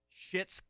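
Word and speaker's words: Schitt's: okay but i've been watching the show and it's spelled s-c-h-i-t-t-s it's shit's creek yeah so s-c-h-i-t-t-s it's it's the name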